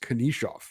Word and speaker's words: Knyzhov: It's spelled Knyzhov, pronounced Konishov.